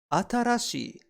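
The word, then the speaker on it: 新しい: We pronounce new as atarashi, and we can remember it like this. And there she was, wearing a brand new dress, atarashi for new.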